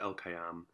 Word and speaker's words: LKYM: i have i have a band called lkym pronounced el kayam um and we have